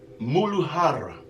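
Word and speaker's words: Muladhara: system the root chakra the Sanskrit word is pronounced moodle Hara the color associated with this chakra is going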